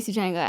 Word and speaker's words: Sugenja: was like, hey, so is Sugenja the anglicized version of your name? And I was like, oh, yeah, it is. That's how you pronounce it in English. And she was like, okay, well, how do you pronounce it in Tamil? And I was like, it's Sugenja in Tamil.